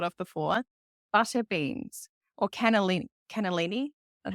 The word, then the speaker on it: cannellini: butter beans or cannellini, that's how you say it, cannellini beans.